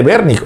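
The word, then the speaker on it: Wernicke: El área de broca y el área de vernic o wernic se escribe wernique para comprender y broca para expresar.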